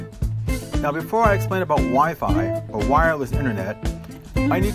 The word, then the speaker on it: Wi-Fi: It was just put there to make it rhyme with hi-fi, which is an old audio term. Now, before I explain about Wi-Fi, or wireless internet, I